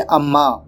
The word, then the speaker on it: Amah: Actually इसका pronunciation है अम्मा। तो अब चलिए फटाफट से वीडियो को स्टार्ट कर लेते हैं।